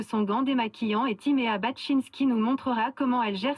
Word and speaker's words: Baczynski: Marie Romanence nous parlera de son gant démaquillant et Timéa Baczynski nous montrera comment elle gère ses déchets en un seul set. Magnifique. Bonne prononciation de Baczynski.